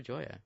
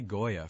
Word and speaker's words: Joya: Because I used to say Goya for the longest time. It's pronounced Joya. It's like joy. I think. How you pronounce the word joy? Yeah. And it's like that. It's like Joya.